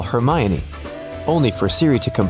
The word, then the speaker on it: Hermione: Call Hermione only for Siri to comply with calling Herion.